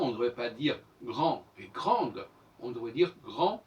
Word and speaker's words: grande: Par exemple, je dis grande, je ne prononce pas le E. Le E me permet de dire grande et non pas grand.